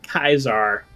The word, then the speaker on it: Caesar: Yeah, they pronounce it Kaiser, which is a valid pronunciation.